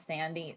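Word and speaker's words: Sandi: Her first name is pronounced the same as Sandy.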